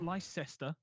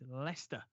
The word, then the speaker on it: Leicester: to pronounce correct me one is Leicester not my sister not lie sister Shire it's Lester Lester and the other one